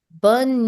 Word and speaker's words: bonne: In the night, to wish good night to someone, you say bonne nuit. Bonne nuit. Now be mindful, you will not pronounce the last E of bonne.